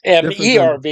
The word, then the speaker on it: Merv: It's MERV. Okay. Multiple entry. Whatever vehicle. Yeah. That's I don't know why it's Merv rather than MIV.